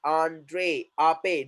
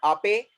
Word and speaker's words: Ape: So whenever we have a word in English which is containing E at the end, the sound is what A. So we are going to put there acute accent E.